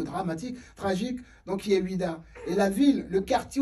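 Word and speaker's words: Ouidah: sur internet vous voz ce que ça signifie wida wida c'est l'une c'est une très très belle ville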